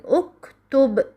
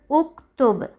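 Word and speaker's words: اُكْتُبْ: But if the third letter has a Damma, so Hamzat al-Wasl takes Damma, as in uktub.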